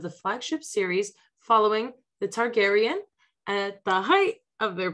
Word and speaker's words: Targaryen: i'm going to try my very hardest with pronunciation okay i'll help you out targaryen that's how you use okay i looked it up before so that makes a lot more sense targaryen awesome okay so house of the dragon star